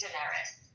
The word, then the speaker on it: Daenerys: I know, but I just like it's Daenerys.